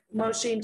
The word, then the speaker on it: machine: Machine chọn âm dây thứ hai, tại sao ạ? Bởi vì âm mơ, ơ không nhận trọng âm, đúng không ạ? Ơ không nhận trọng âm, ơ không nhận trọng âm thì rơi vào âm tiết thứ hai là sin.